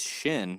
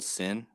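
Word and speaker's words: ש: they write it though it's Shin but you can also pronounce it sin you see how it's spelled sin are you muted Sean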